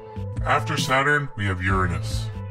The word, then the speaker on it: Uranus: after Saturn we have Uranus this planet is pronounced Uranus however most people pronounce it like Uranus way off into the